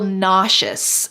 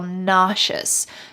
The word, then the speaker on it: nauseous: I took some medicine without eating any food, and now I feel nauseous. Notice the pronunciation here. The S in the middle sounds like shh.